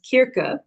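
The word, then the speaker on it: Circe: to pronounce this but I think the actual correct pronunciation is kirka um by madin Miller um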